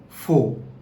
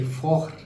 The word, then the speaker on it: faux: C'est faux. It's not c'est fort.